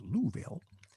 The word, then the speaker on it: Louisville: And next week, I'm going to read about what it was like going to Louisville, Kentucky, pronounced Louisville, and playing with some